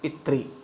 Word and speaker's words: पितृ: हुई है, तो इसको, इस मात्रा को री की तरह बोलते हैं, रे में छोटी की तरह इसका उच्चारण होगा। पितृ कैसे बोलेंगे, सही कैसे बोलेंगे, पितृ।